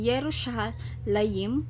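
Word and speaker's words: ירושלים: yahwe so Mga kapatid ang Jehova shama po ay kasing tunog ng yerushalayim para sa israel ' ba ito ang pang hebreong bigkas para sa Jerusalem ang pangalang ito ay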